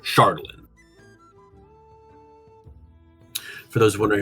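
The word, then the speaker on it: Chardalyn: Uh, and it turned it into this element called Shardlin. For those wondering how it's spelled, is C H A R D A L Y N.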